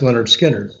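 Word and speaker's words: Lynyrd Skynyrd: their first album um pronounced leonard skinner so i became really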